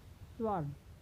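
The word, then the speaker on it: sword: डब्ल्यू का उच्चारण नहीं होता है, यानी वह साइलेंट होता है। जैसे right, स्वर्ड, answer, wrong, wrist.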